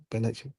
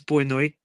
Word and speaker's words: boa noite: Benoit. It means good night. Good night in Portuguese. Benoit. In European Portuguese, it's boa noite, and then in Brazilian Portuguese, it's benoit.